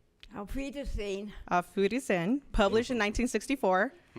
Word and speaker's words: Auf Wiedersehen: She produced 4 books, and you're gonna have to help me pronounce these. Tell me the first one, Aufs Western Syrian? Auf Wiedersehen.